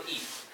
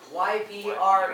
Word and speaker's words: Ypres: Now the How do you Allies make spell- YPRES. mine is right on the wall. Right on the wall. Second, Marne Ypres. So 1950. Sorry, Harrison, my back is that way. You just pronounce E.